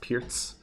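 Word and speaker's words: Pirc: Someone wanted a perk. Whoever wants a perk, or it's supposed to be pronounced Pierce.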